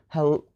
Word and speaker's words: hello: word hello right so we put the stress on the letter oh hello oh hello right you cannot stress L cannot stress H and so on you cannot say hello or you cannot say hello oh you can only stress the vowel and never constants because that's gonna sound